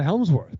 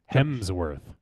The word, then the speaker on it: Hemsworth: There's the Baldwins, and the Helmsworth probably would be a better Helmsworth. The Battle of Helm's Deep. Hems. Oh, Helmsworth. Was it? Hemsworth. Yes, there's no L. No. Think about the hem in your pants.